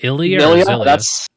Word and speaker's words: Xillia: the two is that am I pronouncing that right is it illya yeah yep okay what is Tales